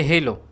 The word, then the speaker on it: NoiseFit Halo: হ্যালো না, ও হ্যালো, এটা হ্যালো বা এই ধরনের উচ্চারণ হবে না, এটা হচ্ছে গিয়ে হ্যালো। আরেকটা দেখি। ওকে, সো এটা হচ্ছে গিয়ে হেলো। সুতরাং যারা হ্যালো বা হ্যালো বলতেছিলেন আমার মতো করে, তারা ভুল বলতেছেন। এটার উচ্চারণটা হচ্ছে গিয়ে নয়েজফিট হেলো স্মার্ট ওয়াচ।